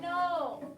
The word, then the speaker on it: know: eight is the word no not like yes and no not like no you can't do that this is like the null in your brain like i know that that is a silent k we don't call it